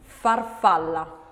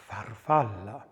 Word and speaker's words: farfalla: And the letter F is unvoiced, labiodental and fricative. And an example of F. Farfalla. Farfalla.